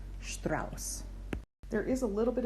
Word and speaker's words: Strauss: word so for instance our beloved composer Strauss this is a sh t AR au s you see the SS that one's pronounced as a regular s Strauss there is a little